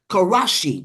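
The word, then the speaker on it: 過労死: There's a Japanese word called karashi. It's spelled Karoshi, and it literally means death by overworking.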